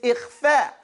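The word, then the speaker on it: إخفاء: Because it's to pronounce the noon sound between idhar, which is an, and idgham, which is ayn. It's gone completely. So between that is ikhfa.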